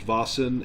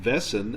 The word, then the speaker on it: Vaesen: strange supernatural creatures called the vasin also I've heard it pronounced vason and vessen and I'm pretty sure it's vasin but uh it may not be that's how we're going